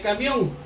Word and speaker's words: camión: ¿Cuántas sílabas tiene camión? Tiene 2 sílabas. Camión. ¿Dónde la vamos a ubicar? Mión va en la última sílaba y K va en la penúltima sílaba. Si ustedes pueden ver aquí, camión, camión. Esta de aquí es donde va la mayor fuerza de voz y le puse un color distinto. Si lleva la mayor fuerza de voz en la última sílaba, significa que la palabra es aguda.